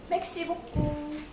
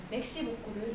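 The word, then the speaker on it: merci beaucoup: 가끔 프랑스어를 잘못 배우시는 분들이 맥시 복구를 멸치볶음이라고 잘못 착각하시는 경우가 있는데 그것은 매우 잘못된 발음이고요. 맥시복라고 표현하는 것이 가장 올바른 표현입니다.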